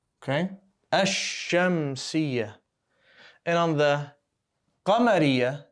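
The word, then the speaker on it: الشمس: fetha we didn't say el shem we said ash go straight from the alif to the next letter skip the lamb okay hashem see and on the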